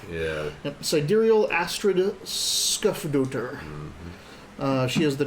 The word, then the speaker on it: sidereal: Sidereal. Yeah. Yep. Sidereal Astrid Skufdoter.